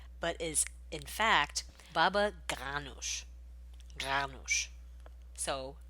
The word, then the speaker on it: baba ganoush: this dish is not baba ganoush but is in fact baba ganoush so a more guttural sound anyway thank you to